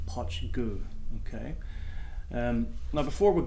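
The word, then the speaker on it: Poit Dhubh: whatever it is but apparently the pronunciation is hot chiku okay and now before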